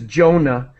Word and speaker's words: Jonah: just first of all his name is Jonah that's how we pronounce it anyways in English I think that's a standard English pronunciation Jonah and so uh what is